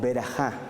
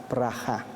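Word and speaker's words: ברכה: Lo hermoso de este pasaje es que generosa, esa palabra generosa, en el original hebreo, se pronuncia algo así como berajá, pero la E suavecita, berajá, brajá.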